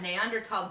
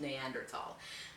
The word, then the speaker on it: Neanderthal: with homo sapiens uh neanderthal densest or basically homo sapiens neanderthal neanderthal man but of course it's german so th is actually pronounced like a t uh now neanderthal lived